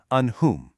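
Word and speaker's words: أنعمت: You absolutely must pronounce that noon clearly and distinctly. It is an'amta.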